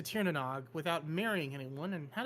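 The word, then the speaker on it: Tír na nÓg: Princess Princess Stagire tried I know how to pronounce that. It's Tanog to Tieranog without marrying anyone and had a baby with the sun lug while there.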